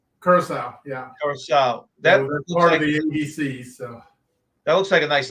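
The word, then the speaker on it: Curaçao: Curacao, is that how it's pronounced? Curacao, yeah, Curacao.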